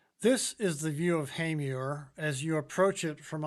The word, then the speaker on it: Hamer: No, it's not pronounced hammer or hammer. It's Hamer.